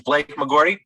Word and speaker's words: Blake McGordy: And Blake McGordy, and let me hear you pronounce it so we hear your pronunciation. You were right on the money. It's Blake McGordy.